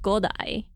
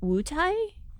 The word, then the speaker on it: Wutai: So in the episode, they say Mount Godai. In Chinese, it's much closer to Wutai.